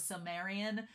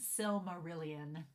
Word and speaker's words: Silmarillion: When I was a kid, and I thought it was Silmarian when I was a kid, but my Western rural self ain't good at pronouncing things, knows it's Silmarillion.